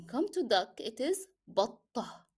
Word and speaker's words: بطة: When come to duck, it is بطة. So we didn't pronounce the t at the end of the word, and instead of t, we replace it with he.